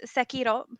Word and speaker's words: Sekiro: so um so it's Sekiro. The R is pronounced a little bit differently than like it's like you hit the tongue a little different.